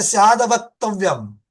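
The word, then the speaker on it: स्याद् अवक्तव्य: उच्चारण के समय में कैसा है, स्याद अवक्तव्यम, ये ऐसा आ जाएगा। संधि विग्रह पढ़ेंगे तो स्यात अवक्तव्य, स्यात टा, आधा टा, हाँ स्यात् अवक्तव्य।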